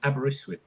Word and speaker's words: Aberystwyth: Yeah, but the pronunciation is Aberystwyth.